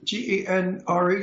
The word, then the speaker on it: genre: Russell has been cast in every G-E-N-R-E, how do you say that?